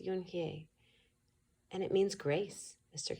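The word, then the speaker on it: Unhei: "Yes, it's pronounced Yunhye. And it means grace," Mr. Kim added. "Yunhye," Joey said slowly, and this time perfectly.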